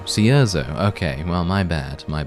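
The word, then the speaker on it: Cierzo: according to this woman the way that you pronounce the town's name is Caesar Caesar okay well my bad my bad if you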